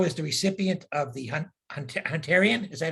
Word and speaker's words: Hunterian: Shapiro is the recipient of the Hunterian, is that how you say it, Doctor? You got it. Hunterian Medal from the Royal College of Surgeons of